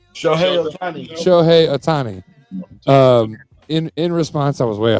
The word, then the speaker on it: Shohei Ohtani: So essentially, and this is, can you pronounce his name for me, that the LA picked up last year? Shoto, is that right? Shohei Ohtani. Shohei Ohtani.